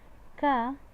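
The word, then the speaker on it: ك: You have got two letters, and that is qaf and kaf. Okay, and specifically where does they come? Ka at this position, and a bit behind it is qaf.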